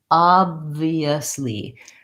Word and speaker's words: obviously: Oftentimes the letter O in American English actually says the vowel ah, and that's the case in this word. And so if you think about the ah sound in father and pasta, that might help you.